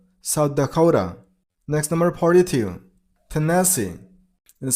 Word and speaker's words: Tennessee: Tennessee. And stress on the third syllable, on C sound, Tennessee.